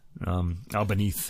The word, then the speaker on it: Albéniz: Albéniz, he would be pronounced in Spanish.